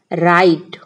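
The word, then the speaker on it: write: पढ़ना अगला वर्ड है डब्लू आर आई टी ई यहां पर डब्लू वर्ड जो है साइलेंट हो जाएगा आर आई टी ई इसे हम पढ़ेंगे राइट राइट राइट का मतलब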